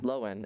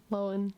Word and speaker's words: Lohan: Lowen, Lowen, as if to pronounce it. Wow. Lohan. Idiots. I'm not gonna Lowen. say that. It's Miss Lohan.